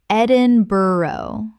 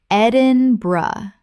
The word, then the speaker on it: Edinburgh: Ed-in-bur-oh. Correct pronunciation. Ed-in-bruh. Three syllables with the bur collapsing to bruh.